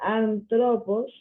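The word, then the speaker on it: ἄνθρωπος: la palabra española Cosmos sabiendo que eh hombre no sé cómo se hombre se pronuncia antropos y se ve inmediatamente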